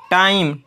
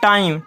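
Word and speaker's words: time: टाइम, इसको क्या पढ़ते हैं, टाइम, टाइमे नहीं।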